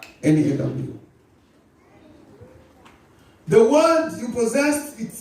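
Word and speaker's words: קנה: Before we come to reins, the word possessed there in Hebrew is Ganah, Ganah. You pronounce as Kanu, Kawnaw.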